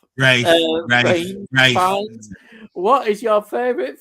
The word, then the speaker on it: Ralph: Talking of Ralph, pronounced Ralph. Rafe.